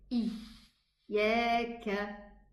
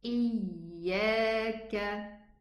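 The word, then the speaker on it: إِيَّاكَ: One of the first mistakes is pressing too hard on the middle tongue, especially when it is a shadda letter. And we hear this, especially when pronouncing the Al-Fatiha. People would say, Iyaka. Did you hear this? Iyaka. That's not a correct pronunciation. It's Iyaka.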